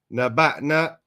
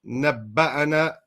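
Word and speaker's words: نبأنا: Naba'na, naba'ana.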